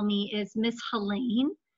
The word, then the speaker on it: Helene: call me is Miss Helene. And I say my name rhymes with Maine to help people. So Helene rhymes with Maine.